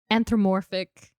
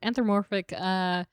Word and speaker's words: anthropomorphic: So again, they're like they're all more or less anthropomorphic. Is that the word? I believe that is the word. Anthropomorphic animals that can talk. There we go. Anthropomorphic. There you go. I was missing a syllable.